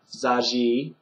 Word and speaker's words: září: So just bear in mind that in September, zaji, that's the only one with a long I at the end, the accent over the I, so it's longer.